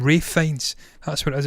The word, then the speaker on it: Ralph Fiennes: Ralph Fiennes. That's what it is. It's weird. He pronounces the Ralph Fiennes.